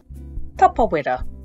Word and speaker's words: Tapawera: Tapawera. There's no need to shorten it to tap. Give tapawera a go. Tapawera.